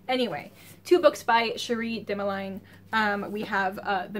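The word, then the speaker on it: Cherie Dimaline: of one of these I just know how her name's pronounced hold on Sheree dimeline neither of my guesses was correct anyway two books by Cherie dimeline um we have uh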